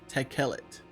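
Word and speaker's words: תכלת: So clearly the word blue is in the Bible and apparently it's pronounced tequellet.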